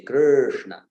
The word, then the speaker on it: Krishna: yeah, So when you do that flip of the tongue on that R with the dot below, what remains is that that English sound, yeah. So Krishna, but of course we do not prolong it in Krishna. We do not say Krishna. We say Krishna.